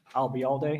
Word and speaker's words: Albayalde: Remember the phrase, I'll be here all day, and drop the here, I'll be all day.